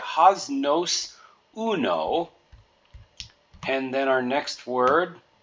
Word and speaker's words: uno: Then we've got our Spanish word uno. So the U is pronounced like oo, or two O's in English, just like in the moon, do, who, or you.